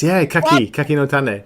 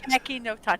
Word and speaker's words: Kaki no Tane: What brand of the Kaki no Tane? Is that how you say it? Yeah. Oh, yes, Kaki no Tane. Kaki no Tane.